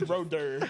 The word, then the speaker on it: Ro Har Derr: Rohader is his full name. The ha is silent. It's Roder.